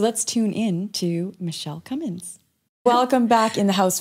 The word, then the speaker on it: Cummins: perfect michelle with 1l and cummins no g like strong like the diesel engine is what i would